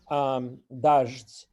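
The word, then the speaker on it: даждь: Dazht. The closest thing that Russian would have similar would be the word for the noun rain, which is spelled the same way except for an o, and it gets pronounced with a sh and a t sound, dozht. So dazht.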